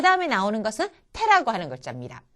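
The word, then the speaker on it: て: 자, 그 다음에 나오는 것은 태라고 하는 글자입니다. 태는요, 아까 타와 마찬가지로 단어에 첫음으로 왔을 때는 태, 첫음이 아닐 때는 때에 가까운 발음을 해주시면 되겠습니다. 태.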